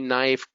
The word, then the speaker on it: knife: Knee, knife, no, knock, right? The silent K.